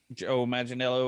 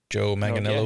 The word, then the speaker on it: Manganiello: Joe Manganiello, or whatever how you pronounce his name. Joe Manganiello.